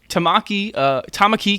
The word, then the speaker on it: Tamaki: Tamaki, god damn it, fucking pronunciations. Second syllable, Jesus.